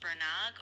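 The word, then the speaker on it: Bernagh: spelled B E R N A G H or Berno. Not sure how you say that uh how they say that in Ireland. Robot Lady, any thoughts? Yeah, that's a good question. It's often pronounced Bernog or sometimes Berno depending on the Irish accent or the local dialect.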